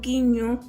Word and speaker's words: guiño: Pero la U no se pronuncia, como por ejemplo guiño, guiso y guerra. Se dice que la U siempre va a ser como muda porque a la hora de pronunciar no se escucha.